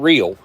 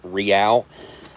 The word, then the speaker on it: Real: Made by Real Field Meals, not Real, Real, like L'Oreal, the makeup, that's how this is pronounced, is Real. Couple Norwegian people over the years have informed me that that's how it's pronounced. So that is the correct way to pronounce that in, I guess, in their language.